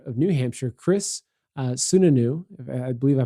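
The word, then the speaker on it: Sununu: the the governor of New Hampshire Chris uh sunanu I believe I pronounced his his name correctly uh said Wednesday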